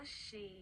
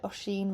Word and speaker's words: Oisín: Oisín.